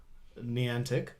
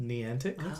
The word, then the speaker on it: Niantic: But the first thing I want to talk about is Niantic. Is that how you say it? Niantic?